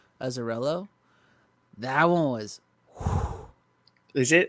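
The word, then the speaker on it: Azzarello: how do you say his last name brian azarella azarello that one was is it dark it's it's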